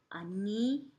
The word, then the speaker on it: anillo: Anillo. It's spelled double L. Remember, that one sounds like a Y.